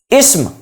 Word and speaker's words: اسم: پر بھی غور کریں، میں نے اسم نہیں پڑھا، اسم سین ساکن ہے، فعل عین ساکن ہے، حرف نہیں، را پر زبر نہیں ہے بلکہ را ساکن ہے۔ حرف، تلفظ کا درست